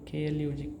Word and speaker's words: klug: Klug, klug. So the klug is in English, right? But whenever the word is ending with G, its pronunciation becomes ka, right?